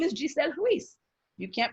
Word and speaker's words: Giselle Ruiz: My name is Giselle Ruiz. You can't pronounce that.